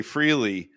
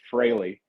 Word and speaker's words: Frehley: we kept practicing because there is that tendency to say freely freely yeah that kind of drives me up the wall I've never called him Ace Freely like even when I was a little kid it was always Frey yeah real fans know how